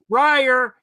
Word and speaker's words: Breyer: guts briar breyer it rhymes breyer retire he writes entirely like